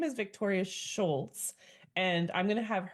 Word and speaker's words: Scholz: And how do you say your last name? It's actually Schultz. Um, but it's just it's just German and that's fine.